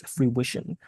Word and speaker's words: fruition: Yeah, so the word, I may have caught you pronouncing it a little wrong at the end. It's fruition.